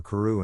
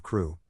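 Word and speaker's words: Crewe: Madame Pascal pronounced it as if it were ku instead of crew, but that might be merely a matter of pronunciation.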